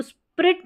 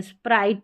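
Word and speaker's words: Sprite: अब इसको स्पिरिट नहीं पढ़ेंगे। स्प्राइट पढ़ेंगे।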